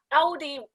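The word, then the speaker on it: Aldi: of the the the cheap uh supermarket chain audi did i i hope i pronounced it right ld that's correct yes audi tested out tested the water out in china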